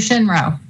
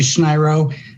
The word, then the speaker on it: Schneiro: Shinro. Thank you. It's actually Schneiro. My wife apologies. That's okay. Nobody can ever pronounce it properly.